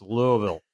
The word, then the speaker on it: Louisville: how you say it he said it's Louisville like it like you don't you want a little mouth as little as possible Louisville Louisville yeah exactly